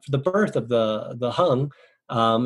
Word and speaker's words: Hang: and then uh the birth of the the hung um it's spelled hang in uh english h-a-n-g but um